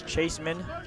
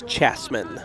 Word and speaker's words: Chasman: Maddox Chaseman stands in. And the first pitch to Chaseman in the zone. It's a strike. I believe it's Chasman. Chasman, okay. Thanks for the correction.